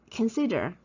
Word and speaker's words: consider: I found them out because you see here, consider, cedar. So here, can, it's not stressed. That's why it's a schwa.